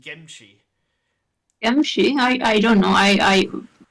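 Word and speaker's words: 김치: And this also happened in Korean, where occasionally in English you will have the word kimchi, but I believe in Korean it's pronounced gimchi.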